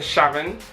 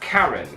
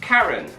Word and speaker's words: Charon: The moon isn't actually pronounced Sharon, it's pronounced Charon, as in Karen. Alright, shut up. Yeah, it's actually pronounced Charon, not Sharon.